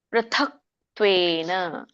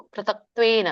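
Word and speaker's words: ಪೃಥಕ್ತ್ವೇನ: ವಿದ್ಧಿ ರಾಜಸಂ ಹರೇ ಕೃಷ್ಣ ಇದರ ಒಂದು ಉಚ್ಚಾರಣೆ ಪ್ರಥಕ್ತ್ವೇನ ಒಟ್ಟ ಸುಳಿದೆ ಪಕ್ಕೆ ಋಷಿರು ಹೇಳಬೇಕು ಪ್ರೂ ಪೃಥಕ್ ಮಹಾಪ್ರಾಣ ಇದೆ ದೊಡ್ಡತ ಇದೆ ಪ್ರಥಕ್ ಮತ್ತೆ ಕ ವ್ಯಂಜನ ಇದೆ ಸೋ ನೀವು ಕ ಮತ್ತೆ ತ ಮುಂದಿನ ಪದ ತ್ವೇನ ಬರುತ್ತಲ್ಲ ಕೂಡಿ ಹೇಳಬೇಕು ಪ್ರಥಕ್ತ್ವೇನ ಪ್ರಥಕ್ತ್ವೇನ ಪ್ರಥಕ್ತ್ವೇನ ಗ್ಯಾಪ್ ಬಿಡಂಗಿಲ್ಲ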